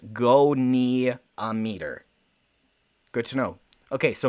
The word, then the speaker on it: goniometer: says don't you dare ander says it's pronounced go knee a meter good to know okay